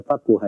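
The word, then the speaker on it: فَقُهَ: Itu dibaca faquha ya, di babat. Di babat di kebanyakan para ulama ahli hadits dibacanya itu dengan kata faquha.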